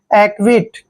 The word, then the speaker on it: acquit: देखिए ए का उच्चारण हम क्या कर रहे हैं, ए, और सी क्याऊ को हम आधा कै पढ़ रहे हैं, ठीक है, यानी कि एक। और देखिए यू आया है, क्याऊ के बाद यू आया है तो यू का उच्चारण हम वह करेंगे, और आई को हम ई की मात्रा पढ़ते हैं, और टी को टे पढ़ते हैं।